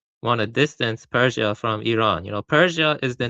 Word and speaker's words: Iran: I don't know the history of Iran well enough to make a good argument.